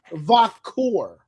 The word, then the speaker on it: Vacour: I think it's Vacour. Vacour. Yes, it's like Va or Vac, because people have been Q part is core, like almost like core, but core. I've been trying to make